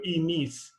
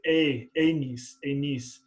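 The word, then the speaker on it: ἡμῖν: In modern, the iota is pronounced e, so e niece. But in restored Koine, it's a niece.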